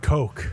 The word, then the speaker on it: Koch: Is it Cook brothers or Koch brothers? How do you spell that? How do you say that? I mean, I don't know how to pronounce it. I think it's Cook. I've heard both. I've heard Coke.